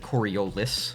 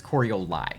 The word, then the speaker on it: Coroli: they first encounter that they'll pronounce it coriolis like the wind thing it's not coriolis it's coroli um coroli was an